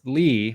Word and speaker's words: Li: this pronunciation right because I've heard lie and Lee um uh lee oh okay I I always called him Chris Lee I I knew